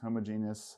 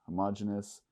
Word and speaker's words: homogeneous: will be called heterogeneous so ever you want to pronounce a modulus homogeneous or homogenous both will work here and it's just going